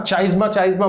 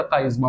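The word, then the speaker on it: chiasma: तो साइंस में कहीं पर भी CH आ रहा है ना, क है ना, चाइज्मा बोलते हैं, चाइज्मा थोड़ी होता, काइज्मा होता है। तो ऐसी कैलेजल है ये, ठीक है, थोड़ा सुधार लो प्रोनाउंसिएशन को।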